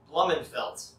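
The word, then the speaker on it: Blummenfelt: european powers on the men's side norwegian christian blumenfeldt that's how you pronounce it he took first in the championship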